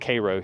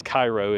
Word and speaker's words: Cairo: 44 feet on the gauges up, say, around Cairo, Illinois. Well, actually it's pronounced Cairo here in the States. It's Cairo if you're over in Egypt.